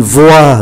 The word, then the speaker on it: voix: Ký tự X cũng không phát âm, une voix là tiếng nói, chỉ còn V-O-I không phát âm ký tự X. Une noix là hạt óc chó, une noix không phát âm ký tự X.